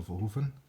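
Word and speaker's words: Verhoeven: I should say too in the Dutch pronunciation because I am Dutch you know Paul vovan Delta city yeah Kurt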